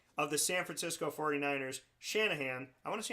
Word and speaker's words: Shanahan: Shanahan, I want to see how many people can spell it. It's literally, you write it out like it sounds, but I feel like Shanahan's a name that people get wrong.